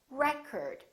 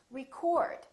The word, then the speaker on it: record: This word, if it's a noun, it's pronounced as record. The first syllable is stressed.